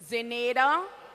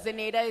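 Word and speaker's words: Zenaida: Zeneda Orita. Zeneda is spelled Z-E-N-A-I-D-A.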